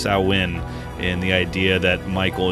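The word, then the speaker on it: Samhain: introduce the idea of as they say repeatedly Sam Hayne correctly pronounced sawin in the idea that Michael is associated with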